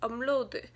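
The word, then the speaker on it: 업로드: but the way that the Korean on the video just said it was upload, but to me, it sounds like a umload, like a M, m, and it's spelt in Korean, translates to a B. So, upload, but I think when it rolls off their tongue, I guess, they just say umload. It sounds like an M to me, I don't know.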